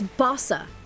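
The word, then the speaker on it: Bossa: It's Bosa." Like Bosa Nova.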